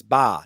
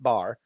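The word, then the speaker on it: Baa: It's ba, not bar.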